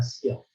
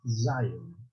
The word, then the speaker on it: Sião: vier um Redentor a Sião. Vejam que sempre se refere a Sião, ou Zion, em outra pronúncia.